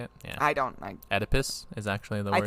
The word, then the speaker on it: Oedipus: I Oedipus is actually the word.